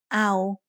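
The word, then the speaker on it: เอา: O-ang makes no sound in this word. So all we have is the vowel ao.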